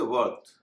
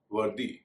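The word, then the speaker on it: worthy: हो जाता है जैसे वर्थ वर्थ में जब हम वाई लगाते हैं और विशेषण बनाते हैं तो हो जाता है वर्दी ना कि वर्थी इसी तरह नॉर्थ और साउथ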